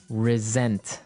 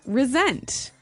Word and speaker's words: resent: said i resent that resent resent okay now this is spelled exactly like re-sent like with an s right that's right r-e-s-e-n-t but you pronounce it like a z resent resent that so